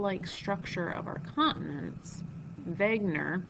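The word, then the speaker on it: Wegener: structure of our continents Vagner it's he's a German guy so the W is pronounced as a v Vagner proposed a theory that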